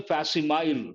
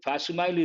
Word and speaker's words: facsimile: And people say facsimile. Facsimile is not correct. The correct pronunciation of that particular word is facsimile.